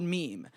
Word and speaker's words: meme: slippery but important as the word meme in his own words it should be pronounced to rhyme with cream Die Hard Dawkins fans